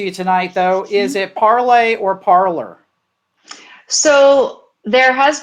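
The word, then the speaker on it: Parler: It was Parlay originally. And then, as you were saying in your little film in the intro there, a lot of people around here just pronounce it parlor. And perhaps if we want to even reboot the pronunciation, we might be asking too much of Americans to say it parlay. So I would give people a choice at this point.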